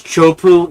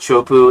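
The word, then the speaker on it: Teahupoʻo: This, okay, just for reference, this is Chopu in Fiji, a little island in the Fijian island chain there. It's a very sharp, shallow reef where this break is called Chopu.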